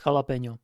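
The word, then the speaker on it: jalapeño: cie smart vegan and Americans cannot pronounce jalapeno it's pretty funny to me because they don't like English doesn't have the H sound we talked about this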